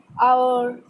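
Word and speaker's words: hour: जैसे थर्ड है honest, ऑनर, आवर, have. तो इसके अंदर क्या है? एच साइलेंट है। ऑनेस्ट पढ़ते हैं, हॉनेस्ट नहीं पढ़ते, ऑनर पढ़ते हैं। फिर आवर, आयर, आयर, तो इसके अंदर एच साइलेंट है।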